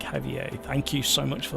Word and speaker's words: Javier: Javier, the J is pronounced more or less like you'd pronounce a H, so more like Javier.